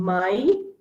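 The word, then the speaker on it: Mai: When A and I or E and I come together, it is pronounced as I. Okay, like our English I.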